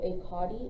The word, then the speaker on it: CAUTI: catheterization is a potty so akati is spelled c-a-u-t-i and that is the catheter Associated urinary tract infection so we are usually